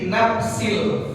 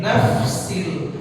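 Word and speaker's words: نفس: Mohon maaf, kalau huruf fa jangan kita baca diganti jadi p, jadi nafsil, jadi bukan, harus naf. Ada sifat khams, ya, seperti orang mengeluarkan udara atau meniup, ya, nafsil, ya, jangan nafsil, jangan diganti huruf p, nggak boleh tuh.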